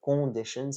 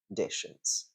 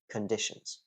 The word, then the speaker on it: conditions: uh like the like the way the letter U is pronounced in the word cup yeah cup conditions um I think those